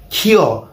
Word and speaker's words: ক্ষ: কিন্তু উচ্চারণের বেলায় এর উচ্চারণ কিন্তু হয় ক যোগ খ এর মতো। তবে শব্দের শুরুতে যদি এটি ব্যবহৃত হয় তখন কিন্তু এর উচ্চারণ খ এর মতো, যেমন ক্ষমা, ক্ষয়, ক্ষমতা ইত্যাদি। কিন্তু শব্দের মাঝে বা শেষে যদি ব্যবহৃত হয় তখন এর উচ্চারণ ক যোগ খ এর মতো, যেমন পক্ষ, রক্ষা, দক্ষতা ইত্যাদি। আশা করি সকলেই বুঝে ফেলেছ।